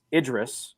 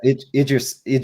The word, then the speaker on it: Idris: She also corrected us. It's Idris, I believe, is how it's technically pronounced. Yeah. Idris.